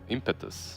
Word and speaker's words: Impetus: I just love calling out Brits on their pronunciation, you know, because every second word I pronounce is wrong. Can you say it then? Impetus.